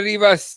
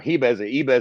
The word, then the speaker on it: Ribas: Ribas, however the fuck you pronounce it. Fucking you lose the R with the Portuguese, whatever.